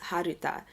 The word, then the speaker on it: Harta: going by the name of Hata, pronounced in Japanese as Haruta.